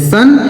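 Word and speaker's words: son: आगे लिखा दोस्तों एस ओ एन इसे पढ़ते हैं सन।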